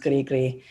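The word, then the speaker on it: gris-gris: little grigri these um i think it's pronounced grigri little charms and so they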